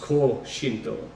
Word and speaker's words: Koshinto: The ancient history of Koshinto, or as it's pronounced Ko-Shintō, is a mystic religion of the Jōmon period of Japan.